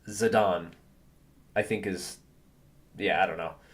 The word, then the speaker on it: Zidane: I think it's pronounced Zidane or Zidane, like the French soccer player. Exactly. So I always say, I always called it Zidane growing up just because, I was a teenage American kid.